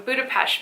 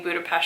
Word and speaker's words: Budapest: gotta guys start sayin Budapest can you say Budapest in the u.s. people look at you funny but that's truly how you say it but I don't want